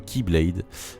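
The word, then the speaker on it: χ-blade: la X Blade alors ce X est une lettre de l'alphabet grec et se prononce qui tout comme Ky Blade je vais néanmoins appeler cette arme la X Blade afin qu'il n'y ait pas de confusion mais notez que dans le jeu elle est prononcée k voilà la xBlade est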